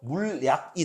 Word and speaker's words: 물약: 물약 보면 얘 표준 발음이 물약이거든요. 근데 한국어 음운 규칙 중에 리을 첨가는 없어요. 이게 어떻게 된 거냐? 니은 첨가가 먼저 되고 니은이 먼저 들어오고 이 니은이 리을로 바뀌는 유음화가 일어나서 물약이 되는 거거든요.